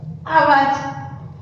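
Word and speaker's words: आवाज़: देखो, हमने ज पर क्या किया? थोड़ा सा जोर डाला, और उसके शुद्ध बोलने के लिए हम इसका उच्चारण शुद्ध कर सकते हैं, इसीलिए हम उसके नीचे नुक्ता लगाते हैं।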